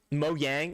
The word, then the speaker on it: Mojang: I prefer to just use the Y pronunciation.